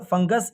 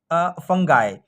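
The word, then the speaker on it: fungi: अब यहाँ पे देखो फंगस, ये है फंगाई, ठीक है। इसको फंगाई भी पढ़ते हैं, इसको फंगी भी पढ़ते हैं, फंजाई भी पढ़ते हैं, तो इसके प्रोनाउंसिएशन में बहुत है, ठीक है।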